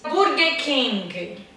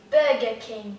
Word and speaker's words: Burger King: Burger King. Burger King. Burger King. King. Então não usa a pronúncia do G no final.